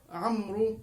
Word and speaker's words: عمرو: أو في وسط الكلام، وأيضا لدينا واو عمرو كذلك من الأشياء التي لا تكتب ولا تلفظ.